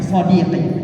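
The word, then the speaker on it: صديقي: 9 adeti itu dibacanya sadiqi.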